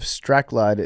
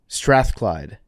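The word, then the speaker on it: Strathclyde: He's from the University of Pisa and Filippo Bondi of the University of Straide in Scotland. I definitely mispronounced that. Strathclide in Scotland.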